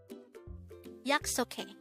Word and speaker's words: 약속해: YAKSOKHAE. YAKSOKHAE. This is pronounced as a three-syllable word. The first syllable is yak, second syllable is sok, and the third syllable is he.